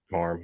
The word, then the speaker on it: Parham: Parham, yep.